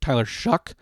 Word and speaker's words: Tyler Shough: think taking Tyler Shough, which is spelled like it's show, but it's pronounced Tyler Shough, at the 301, I think makes sense.